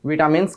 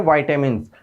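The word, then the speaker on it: vitamins: है, वाइटामिन्स यानी कि विटामिन्स कहलाते हैं। इसका प्रॉपर जो प्रोनाउंसिएशन है वो है वाइटामिन्स, लेकिन इसको हम विटामिन भी कह सकते हैं, कोई दिक्कत नहीं है।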